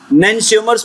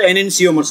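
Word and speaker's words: enantiomers: नैनसियोमर्स बोलते या तो एनेंसियोमर्स बोलते, कई बार ये ई को साइलेंट कर देते तो क्या हो गया, नैनसियोमर्स, आगे ई लगा दिया तो एनेंसियोमर्स।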